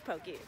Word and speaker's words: poke: It's pokey. We know how to say it right.